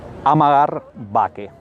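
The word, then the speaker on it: Amager Bakke: Amagar Bake, así se pronuncia esto.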